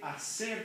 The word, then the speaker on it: hacer: ¿Qué te gusta hacer? Muy bien. ¿Cómo se escribe hacer correctamente? Sarai. H-A-C-E-R. H-A-C-E-R. Muy bien. Empieza con H. What is another word that begins with H that we never even hear?